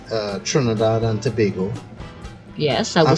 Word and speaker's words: Tobago: Alright, so let's look at the sister island, Tobago now. Some foreigners will call that Tobago.